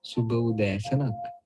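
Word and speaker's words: සුබ උදෑසනක්: Suba Udasanak. Suba Udasanak. Suba Udasanak. That means good morning. Suba Udasanak. Suba Udasanak.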